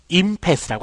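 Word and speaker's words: impasse: 강세는 앞에 있습니다. 임패스라고 합니다.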